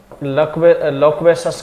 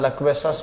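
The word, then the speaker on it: loquacious: ठीक है, तो लोक्वेशस का मतलब क्या होता है, लक्वेशस बातूनी। ठीक है, सही प्रोनाउंस लक्वेशस होता है, बाकी का आप लोक्वेशस बोल सकते हैं, अपन को तो एग्जाम में सही करना है।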